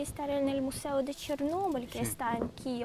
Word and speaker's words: Chernóbil: de las consecuencias del desastre de chernóbil así se pronuncia si se acentúa tiene que ver con